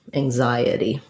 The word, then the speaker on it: anxiety: z sound so the the x is really um an ng with a z together with the n um and then we have i uh so and our stress is on the z on the zai syllable so thinking about it like ang zai hm maybe i'll put